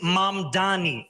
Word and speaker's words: Mamdani: And furthermore, the name is Mam Dani.